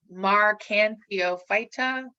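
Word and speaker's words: Marchantiophyta: they look like they are in the phylum marcan theophyta that's how you pronounce that and liverworts they like i said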